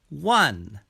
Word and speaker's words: one: look at the word one one one has a w sound in the beginning one begins with the w sound an is used in